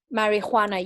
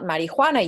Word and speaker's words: marijuana: So yes, I speak Spanish as well, so I pronounce it in the Spanish way.